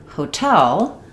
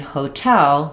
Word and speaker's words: hotel: That's because in hotel, we're stressing on the tell syllable. So, it functions just like the word tell. It's like a t at the start of a word because this syllable is unstressed. So the important part of the word is tell. You can try it by saying tell. Hotel.